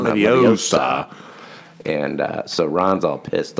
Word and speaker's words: Leviosa: It's Leviosa, not Leviosa."